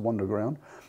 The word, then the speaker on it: Wunderground: So it must be pronounced Wunderground.